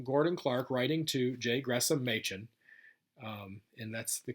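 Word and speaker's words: Gresham Machen: from it's from gordon clark writing to jay gressam machin um and that's the correct pronunciation it was this was discussed on one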